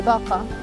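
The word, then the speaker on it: باقة: The name Bokitta stems from the concept of a bouquet of flowers, and the Arabic word for bouquet, pronounced baka, The idea behind it is that we are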